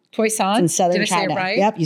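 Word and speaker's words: Toisan: It's called Toyisan. Toyson in southern China.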